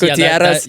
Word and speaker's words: Gutierrez: That's Gutierrez. you can roll the R's.